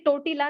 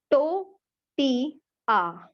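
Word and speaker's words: tortilla: ये टोटीला नहीं होता, पहली बात तो प्रोनाउंसिएशन इसकी है टोटिया, एल साइलेंट है इसमें।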